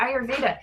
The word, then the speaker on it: Ayurveda: i are your i or how do you pronounce it and i was like oh ayurveda and she was like um yeah she was